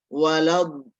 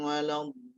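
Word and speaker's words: وَلَا الضَّالِّين: Walad, jadi waladdo. Jadi waladdo. Ya, jadi jangan langsung walob, bukan walob, tapi waladdo. Ya. Ghairil maghdubi alaihim waladdo. Ya, jadi sekali lagi jangan ghairil maghdubi alaihim walad, bukan walad, tadi waladdo. Nah, kemudian do, panjang donya do. Kemudian lamnya di situ ada tasydidnya. Jadi harus ditasydid. ghairil maghdubi 'alaihim waladdallin. Ya, jadi bukan waladdallin, bukan dolin, tapi dolin.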